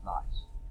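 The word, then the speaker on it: gneiss: But if you have even more pressure and more heat and more changes, it becomes, and this is pronounced nice rock. No, G-N-E-I-S-S, nice.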